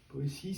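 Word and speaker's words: Poétie: Poésie, c'est l'articulation du récit et de la poésie. Ça s'écrit P-O-T-I-E comme la Boétie.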